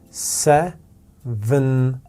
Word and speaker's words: seventeen: We have exactly the same two sounds in the first syllable, s, e. Exactly the same two sounds in the second syllable, v, n, and different sounds in the last final syllable. So we have t, long e, and n.